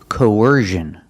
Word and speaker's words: coercion: at this word coercion we see c n again but it's making a different sound it's not making the sh sound like in fish and wish it's making the z sound like in Vision or decision it's the same position